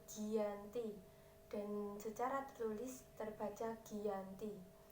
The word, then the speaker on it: Giyanti: perjanjian ini yang bernama Desa jati dalam pelafalan Belanda Desa ini disebut Giyanti dan secara nulis terbaca